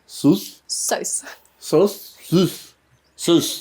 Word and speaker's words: Sous: Sauce. Sauce. Gotta pronounce the U.